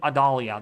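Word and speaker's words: Idalia: going to become another Adelia ad Adalia think Adalia that's how you say it um it is very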